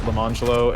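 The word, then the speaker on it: Lemonjello: But you pronounced it Lamangelo and Orangelo.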